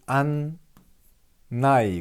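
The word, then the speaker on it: 案内: 자, 그리고 자, 여기서 보시면 자, 고 안내를 안나이 그럽니다. 안을 내를 나 그런다는 거. 쉬어도 안자의 한자가 여러 가지입니다. 내자도 한자 여러 가지입니다. 그래서 안은 뭐다? 안으로 발음나고 내는 뭐다? 나이. 이렇게 발음난다.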